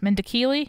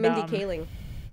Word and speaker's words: Mindy Kaling: uh oh my God mendicily no that's not how you say it at all I am my brain not working the girl from the office and Mindy Kaling thank you she created